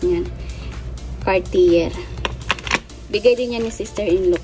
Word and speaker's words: Cartier: Yung pronounce niyan. Cartier.